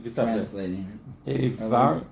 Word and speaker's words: עבר: Avar, it says Aver or Itvar. Three dots. Oh, it says Aver, okay.